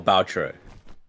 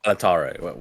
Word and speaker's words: Balatro: I don't know how you even derive Balataro. There aren't that many A's in the word. It's B-A-L-T-R-O. Baltaro, right? No, Taro, that's not what you said before. You said Balataro. Balataro. There's not enough A's for it to be Balataro.